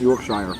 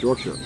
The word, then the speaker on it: Yorkshire: I said it right too. I know it's not Yorkshire, it's Yorkshire.